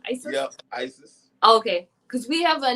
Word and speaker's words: Isis: Yep, Isis. Okay. Because we have a neighbor and her granddaughter's spelled like that, but it's Isis.